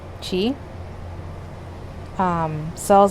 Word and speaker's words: Qi: Qi, Ki, like in Japanese it's Ki, in Chinese is Qi.